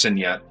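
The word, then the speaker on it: Cygnet Lake: It's uh the Signette Lake uh hunting and fishing camp. Spelled Signet, C Y N T, but it's pronounced Signette if you pronounce it properly.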